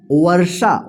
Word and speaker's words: वर्षा: वर्षा। व के बाद आधा र का उच्चारण हो रहा है, तो शा के ऊपर यहाँ पे जो है ना रेफ की मात्रा लग जाएगा।